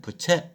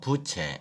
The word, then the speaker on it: 부채: 이때 부채를 발음할 때는 부채 이렇게 하면 안 되고 부를 좀 길게 해서 부채 이렇게 발음하는 겁니다.